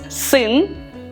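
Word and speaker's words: сын: say son and daughter son is sin sin with the letter that is very difficult to pronounce if you don't have the sound in your language sin sin and daughter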